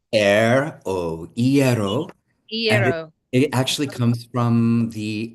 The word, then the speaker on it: ieró: your bread so the the easiest way to remember it e as in the a i breath e oero it actually comes from